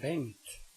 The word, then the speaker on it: Bengt: Now comes the sound ng, which you have in my name, Bengt.